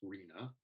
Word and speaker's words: RHNA: housing needs allocation process rhna which people pronounce rina and you'll hear that